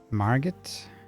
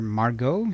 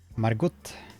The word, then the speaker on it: Margot: quick BRB okay I marget or I guess it's uh pronounced Mar Margo since it's it rhymes with cargo Margo go and not marget Margot I just happen to